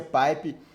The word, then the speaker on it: pipe: sobre o operador paip né se pronuncia pai pe mas quando a gente